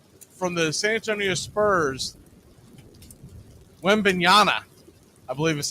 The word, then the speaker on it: Wembanyama: We're going to do this really, really quick because if you missed it, the kid from the San Antonio Spurs, Wembanyama, I believe is how he pronounces his name.